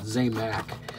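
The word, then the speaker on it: Zamac: Or Zamax, or however you want to pronounce it. I pronounce it Zamax.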